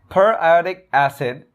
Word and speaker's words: periodic acid: acid shape staining um there is a common mispronunciation that i'd like to address per iotic acid the formula for that